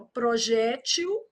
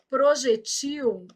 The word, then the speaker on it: projétil: Projétil. Projetil e muda o plural. Ó, projéteis e projetis. Cada uma aí do seu jeito. Então aqui, ó, projéteis e projetis. Projétil, projeti. Eu tô marcando a sílaba tônica, tá?